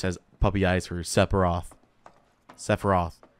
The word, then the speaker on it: Sephiroth: Sephiroth. Is it Sephiroth or Sephiroth? Is it like a silent P like in Sapphire?